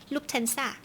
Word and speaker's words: Lufthansa: How do you pronounce it? Lufthansa.